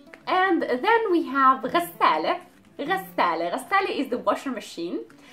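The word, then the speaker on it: غسالة: The washing machine is ghassale again, and it has the L and then the T marboota, so the pronunciation of the T marboota is an A at the end.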